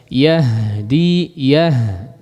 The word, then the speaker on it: يهدي: Coba lihat yahdi perhatikan pengucapan haknya. Yahdi ya. Pakai hak yang besar ya.